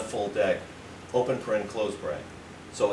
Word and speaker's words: deque: We're adding, we're adding the DEQUE, which is pronounced deck.